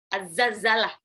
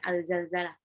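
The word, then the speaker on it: الزلزلة: Az-Zalzalah Bacanya az-zalzalah bukan al-zalzalah.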